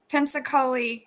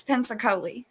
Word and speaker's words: Punxsutawney: It's Pensacola, is how you say it. Probably not saying it exactly right, but in Philadelphia, they probably say it different.